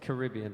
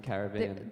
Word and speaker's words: Caribbean: Well, it's Caribbean in some places and then Caribbean. The Caribbean. So it's not Pirates of the Caribbean. It's Pirates of the Caribbean, but then people I think say Australians Caribbean.